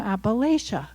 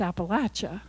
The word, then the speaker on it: Appalachia: Everywhere I go, people say, oh, you're from Appalachia. That's not how you say it. It's Appalachia.